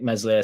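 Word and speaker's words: Meslier: on about Somerville stuck mesle silent s p uh Helder like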